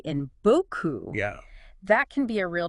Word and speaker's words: beaucoup: And there's often a tendency to pronounce that final P in words like beaucoup, which should be silent in French.